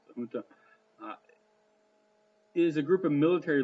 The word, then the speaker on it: junta: For example, a junta, and yes, you don't pronounce the J with the J sound. The junta is a group of military leaders who rule a country after taking control by force.